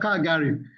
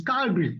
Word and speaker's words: Calgary: I said Kgari. He said, "Hassan, it is not Kgari. It's Calgary."